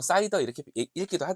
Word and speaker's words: CIDR: 흔히 " 사이다 " 라고 발음 하기 도 합니다 .